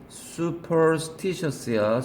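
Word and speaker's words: superstitious: 되는 거죠 발언 써서 슈퍼스티셔스 수야 제발 슈라 발음하지 마 수야 슈퍼스티셔스 하면은 이건 나중에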